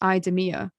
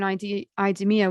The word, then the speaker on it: IDEMIA: from a French company called, I think it's pronounced IDEMIA, but basically they're an algorithmic model that scans people's faces.